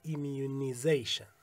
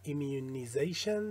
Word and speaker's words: immunization: یه تلفظ امریکایی داره که میشه immunization. در واقع همه اینایی که زیشن این شکلی هستند در انگلیسی، معمولاً در انگلیسی بریتیش آیزیشن خونده میشه و انگلیسی امریکایی ایزیشن. مثلا ایمیونیزیشن در امریکای شمالی، ایمیونایزیشن در انگلیسی بریتیش.